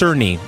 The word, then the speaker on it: Cerny: You know, the head of Mark Kearney came out today, and he said that 30 FPS Madam, is I believe janky. I believe it's pronounced Cerny.